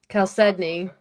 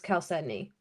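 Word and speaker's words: chalcedony: calcedney. Uh, six and a quarter. Six and a quarter. I always said it with the ch with a ch sound. I never knew it was actually K.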